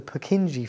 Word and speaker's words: Purkinje: are the sub-endocardial fibers also known as the purkinje fibers i'm sure there's a much better pronunciation of that out there but that's that's